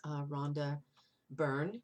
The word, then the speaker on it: Rhonda Byrne: a hero that's another book by of course rhonda byrne is how you pronounce her name and i just think and